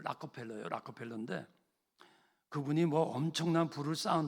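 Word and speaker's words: Rockefeller: 락펠러라죠, 락펠러. 근데 엄밀히 발음이 락커펠러예요.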